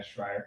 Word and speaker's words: Schreier: I've corrected people before, but yeah, Schreier.